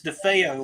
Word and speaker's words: DeFeo: No, it's DeFeo, like the Amityville.